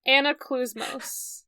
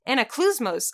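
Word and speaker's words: Anaklusmos: Anaclusmos. Anaclusmos. Okay, that is actually easier. I didn't know how to pronounce it before.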